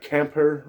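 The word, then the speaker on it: Camphor: p h o r they kind of say it like camper or not Camp wh right but um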